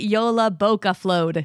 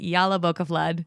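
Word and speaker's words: Jólabókaflóð: sure she also said they pronounce it Yola boa flod so there we go I'm pretty sure I announced it incorrectly through the entire episode because I was calling it yala boaf flood so anyway either way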